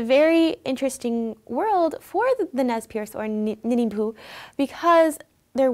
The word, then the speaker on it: Nez Perce: they're known as the Nez Perce and it's Meza Pierce or nay Perce which is the very French pronunciation of it which means pierced nose now they were given